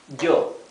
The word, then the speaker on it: yo: Okay, so it's not this E sound. It's not yema, it's yema. It's not yeska, it's yeska. It's not yo, it's yo. Right?